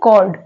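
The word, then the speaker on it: chord: है next वर्ड है कॉर्ड कॉर्ड में जो एच आ रहा है वो साइलेंट है अब हम जानेंगे आफ्टर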